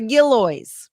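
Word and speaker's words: Gillioz: a Southwest Missouri film office located at the gillo which is really cool and yes that is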